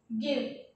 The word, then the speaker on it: give: The board गिव ड्राइव, the ending spelling is ive, here also ive. What is the pronunciation of this? Give. And what is the pronunciation of this word? Drive. Yes, give, drive. Here it is giving the sound of give, but here the sound is quite different, drive.